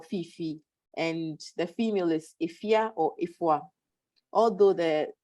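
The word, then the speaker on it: Afua: A Friday born male is Kofi or Fifi, and the female is Ifia or Ifwa. Although it's spelled Ifwa, it's pronounced Ifia.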